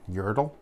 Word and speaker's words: Yertle: it's happening right now we're doing magnified brewings Yertle hey that's how you say it it is